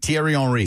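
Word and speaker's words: Thierry Henry: She's she's the Ernie Johnson in this situation and she's managing very and Terry Henri and and how pronounce it again. Tierry Enri.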